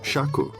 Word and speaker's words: Shakya: In India, it's pronounced Shaku.